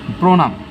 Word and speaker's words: প্রণাম: এইবার আসি আমরা নেক্সট, প্রণাম, রফলা আছে, দুই পাশে ওকার, মূর্ধন্য দিব না, দন্তন্য দিব। প্রণাম মতে ধাক্কা খেয়েছে, তাই আমরা কি মতে অসন্ত দেব।